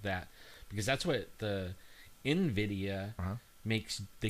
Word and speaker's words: NVIDIA: I don't think it was put there by this company, and it's pronounced NVIDIA.